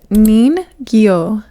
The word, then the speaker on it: ningyo: So, the like regular way to say mermaid is ningyo. Ningyo is how you say mermaid.